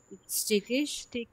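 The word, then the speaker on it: stickig: Im Treppenhaus ist es স্টেকিশ লাস্টে এই যে একসাথে থাকলে কি হয় আপু শয়ের মতো উচ্চারণ হয় স্টেকিশ und es riecht komisch.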